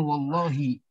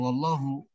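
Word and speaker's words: وَاللّٰهِ: Bacanya wallahi. Jangan wallahu.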